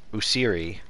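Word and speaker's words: Osiris: is awesome because we get like the exact pronunciation of their names like user and uh usiri and um ac and all these you know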